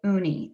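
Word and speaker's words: Ooni: a pizza oven by uni and that's spelled o-o-n-i uni is a very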